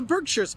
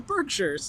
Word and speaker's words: Berkshires: The Berkshires, it's not Berkshire. This is not Lord of the Rings, it's the Berkshires, okay?